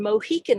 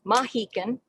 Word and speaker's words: Mohican: lee i am on mohican land and just to get that straight mohican mahikin are the same pronunciation of the indigenous people